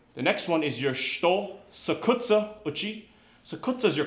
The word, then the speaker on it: shuto: The way we say knife hand in Japanese is shito. It's written S-H-U-T-O. And the U in the middle of the word is compressed. So instead of being pronounced shuto, it's pronounced shito.